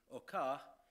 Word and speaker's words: Hocart: in 1883 in Belgium the G family who remain alive today prefer the pronunciation okar but I think we're going to stick with hocart his father was a